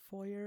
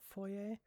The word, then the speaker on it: foyer: A lot of Americans say foyer and not foyer.